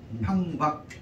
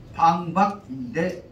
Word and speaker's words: 방박: 다시 말하면 그 주장들이 기세가 팡박 한번 떨어지면 그 주변은 지진을 일으킬 정도로 진동을 일으켰다. 팡박이라고 합니다. 원래 발음은 방박인데 중국식으로 발음하면 한쪽에서는 팡박으로도 읽는다 하면서 참고로 알아주시기 바랍니다.